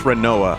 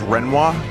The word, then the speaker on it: Renoa: That's Renoa. Yeah, I know. Do you know some people pronounce her name as Renoir? I reject that hypothesis completely.